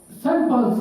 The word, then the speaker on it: Saint: খেয়াল করুন, নামের আগে যখন এই শব্দটি বসে তখন সেন্ট উচ্চারণ করা হয়, আর অন্য ক্ষেত্রে সেন্ট উচ্চারণ করা হয়।